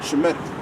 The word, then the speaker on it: Shemitic: Because we're declaring that we're Shemitic. Which that's the right way to say it. Shemitic.